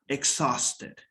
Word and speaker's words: exhausted: just a second exhaust exhausted okay exhausted yes do not pronounce the you exhaust exhaust okay exhausted good okay thank